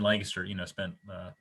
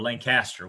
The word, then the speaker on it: Lancaster: Coast and even in Lancaster. Or Lancaster. We have a Lancaster near us, spelled the same, but when I moved here, people pounced on my pronunciation pretty quick, so I got to undo that for this.